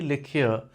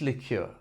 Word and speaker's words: liqueur: alcohol World example one she sipped a cherry lure after dinner meaning a sweet flavored alcoholic drink example two the recipe calls for orange lure meaning a key ingredient in fancy cocktails example